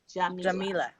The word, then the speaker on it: Jamila: the beginning i want to make sure i pronounce it correctly sure sure it's john nila jamila okay thank you i honestly have been excited